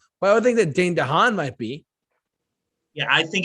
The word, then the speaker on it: Dane DeHaan: Dane DeHaan.